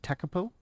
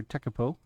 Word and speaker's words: Tekapo: down in New Zealand the airport I believe is pronounced tekapo it's on the South